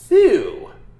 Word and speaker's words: Thew: greatest in cedar rapids this is thu brewing and if that name sounds ridiculous uh you're not wrong but maybe you're a little wrong phew is spelled t-h-e-w nailed it and you